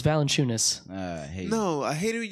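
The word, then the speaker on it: Valančiūnas: You pronounce his name weird. Valanciunas? It's Valanciunas.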